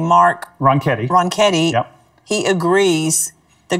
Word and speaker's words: Ronchetti: And then for New Mexico, I can't pronounce his name, Mark. Ronchetti.